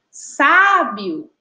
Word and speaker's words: sábio: E quando a gente fala sábio agora, ó, sábio, sábio, a gente já identifica também que a sílaba tônica é a sílaba sa.